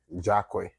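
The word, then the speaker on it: Jahquoi: it with his last name oh okay j-a-h-q-u-o-i jock way so the nightclub was Jacqueline nightclub so very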